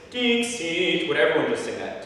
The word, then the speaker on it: Dixit: Dixit, Dixit.